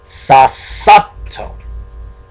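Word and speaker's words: さっさと: You notice I stressed the second sound. That's because the mini two came before the second sa. That's why I said Sasato.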